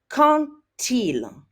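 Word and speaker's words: quand il: is followed by Ila did you hear the way I pronounced that I said contilo now why in the world because it makes French sound prettier so when we have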